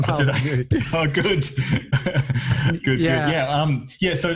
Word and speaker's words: Molyneux: No, you got it right. That's right, Stefan Molyneux.